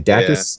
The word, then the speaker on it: DACUS: Dacus is spelled D-A-C-U-S. It stands for dash attack canceled up smash.